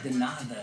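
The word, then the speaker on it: de nada: Denada is how it's pronounced.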